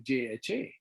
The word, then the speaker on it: Jha: was in the u.s my last name is jha in spanish jay is silent so i i remember